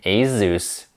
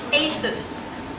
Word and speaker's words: Asus: elephant in the room I have been mispronouncing Asus my entire life Asus repeat once again Asus probably like the Porsche